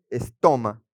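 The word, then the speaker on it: στόμα: En griego boca es estoma. Así es toma con acento en la o.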